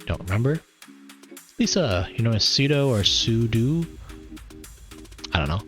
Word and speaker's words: sudo: know sudo sudo it's i pronounce the pseudo because that's how i read it although it's short for super user do so you could say sudo if you want um here's a nice